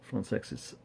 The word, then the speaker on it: Françaix: pure water do john francex that is how he'd like his name pronounced apparently uh wonderful uh